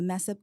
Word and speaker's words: MSEIP: We pronounce it mess up, MSEIP, Minority Science and Engineering Improvement Program.